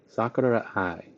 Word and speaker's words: Sakurai: Sakurai. That's how they say it, at least when I listen to them speak. They like say it so fast.